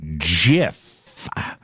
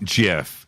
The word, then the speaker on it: GIF: we dividing so it's so gif as in god as in gay as in good graphical interface file hard g right yeah gif sounds